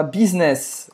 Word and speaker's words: business: Você vai ouvir bastante a palavra business. Business. Hein? É pronunciado em francês. Business, business. Business, então esse U tem som de I no francês, tá?